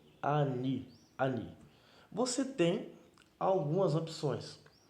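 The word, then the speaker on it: אני: aqui é uma das mais conhecidas e é pronunciado ani ani você tem algumas opções você pode considerar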